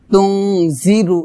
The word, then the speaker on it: تنذر: ইন্নামা তুনজিরু ইন্নামা তুনজিরু তুনজিরু এটা হবে না হবে তুনজিরু জি পাতলা হবে জাল যে জিব্বার আগা উপরে দাঁতের আগায় লাগিয়ে পাতলা করে উচ্চারণ করতে হবে তুনজিরু মানিত্তাবা মানিত্তাবা আজ আইন